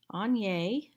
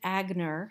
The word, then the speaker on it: Agner: jute wedge and yes that is how you pronounce it on yay some people pronounce it agner and that is unfortunately incorrect i have a course in the premium library all about anya and the brand itself where it came from